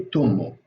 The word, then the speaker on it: ثمه: ثمه, there's different ways of like pronouncing this. You can say with th, right? Or you can say that. I say tummo. I say as T, and the vowel I say O.